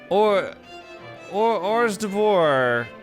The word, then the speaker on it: hors d'oeuvres: I don't even know how many hors d'oeuvres, that's how it's pronounced.